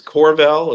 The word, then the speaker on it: Qorval: So my business is Corval. It's spelled Qorval Partners, and we are based in Naples.